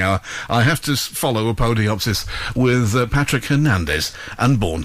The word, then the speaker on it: Apodyopsis: Right, so let's hear Hell's Sweet End by, come on, tell me how it's pronounced. Apodyopsis.